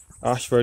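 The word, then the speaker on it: Ayshford: Ashford is spelt A-Y-S-H-F-O-R-D.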